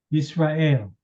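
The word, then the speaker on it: ישראל: So this would be Yi Ra A Yisrael. That's how Israel is pronounced.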